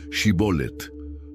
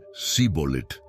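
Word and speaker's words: shibboleth: Los galaaditas utilizaban una prueba lingüística, pedían que pronunciaran la palabra shibolet. Los efraimitas que no podían pronunciar el sonido shi decían sibolet y eran entonces ejecutados.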